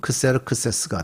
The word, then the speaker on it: 크세르크세스: 히브리어적으로 발음을 하면 아하수에로가 되고, 헬라적인 발음을 하면 크세르크세스가 되는 그런 발음이 되죠.